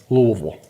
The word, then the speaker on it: Louisville: They do make the baseball bat, and they do pronounce it Louisville. So that one's kind of acceptable. 90% of them will go Louisville.